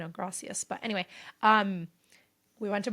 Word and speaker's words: gracias: They say it like a TH, but, usually in San Diego, we are used to Spanish with, gracias.